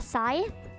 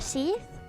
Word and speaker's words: scythe: I don't know how to pronounce that word. A scythe? A sheath?